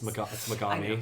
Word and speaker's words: Megami: I don't like all of the Shin Megumi Tensei games. It's Megami, first of all. It's Shin Megumi Tensei. It's you gotta say it right if you're a real fan.